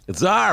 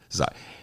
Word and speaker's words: czar: Tsar, man, you know, the leader of Russia in the old days, the king of Russia, essentially. Yeah, Tsar. C-Z-A-R, although it can be spelled with a T, T-S-A-R, but they like